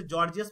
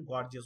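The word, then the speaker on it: gorgeous: है, गॉर्जियस ठीक है, इसे जॉर्जियस बोलते हैं हम लोग, लेकिन ये एक्चुअल प्रोनाउंसिएशन गॉर्जियस होता है, ये करेक्ट है।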